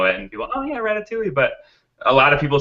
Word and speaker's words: Ratatouille: just people know it and people oh yeah Ratatouille but a lot of people said ratat toille